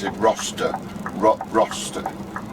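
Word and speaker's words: Rocester: turn right up to roster to did you pronounce it roster ro roster r o c e s t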